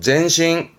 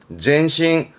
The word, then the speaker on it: 前進: 나아갈 진짜 전진의 진 진행의 진짜예요 요게 전진이 발음은 젠신 젠신 음모는 싱 가네요 젠신 그렇죠 진행이지만 싱꼬 싱꼬